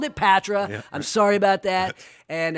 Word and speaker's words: Patra: with John Simpson the co-founder and CEO of patre corporation I called it Patra I'm sorry about that and I mispronounced your name how do you miss promote